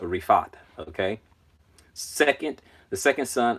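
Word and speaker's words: Riphath: there's the the pronounce the annunciation key is a Refaat okay second the second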